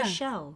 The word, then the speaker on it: Rischel: It's like people are always asking me how to pronounce my surname, and I'm like, it's like Michelle, but with an R. Oh yeah. Rischel.